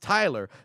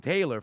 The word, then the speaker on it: Tylor: It's pronounced Tyler, but spelled Tylor. Oh, well, there it is. But I know people get it messed up in saying Taylor first because of the O.